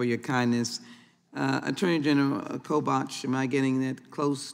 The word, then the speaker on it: Kobach: the chairman for your kindness uh attorney general kobach am I getting it close to pronunciation sir kobach yeah thank you so very much um I've